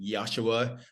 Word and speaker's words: Yashua: does it you know yasua am I pronouncing your name correctly yosua like josua exactly that's correct yosua yosua and I'm